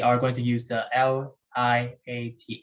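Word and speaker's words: LIATE: going to use the l i a t e or liat yeah that's the way i pronounce it so log inverse trig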